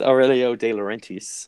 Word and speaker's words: Aurelio De Laurentiis: It's Aurelio De Laurentiis, and that's the pronunciation, Dave. That's how you do it.